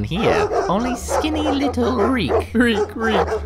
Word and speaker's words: Reek: Reek, rhymes with physique.